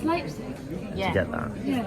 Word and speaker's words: Leipzig: Pronounce the second vowel sounding rather than the first. So it's I is after the E, isn't it? So I was also doing when you're pronouncing things. It's Leipzig.